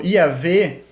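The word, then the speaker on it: יהוה: Vocês podem ver que, por exemplo, que o Yahvé, que é a pronúncia mais provável, é muito diferente de Yahweh e de erro, né?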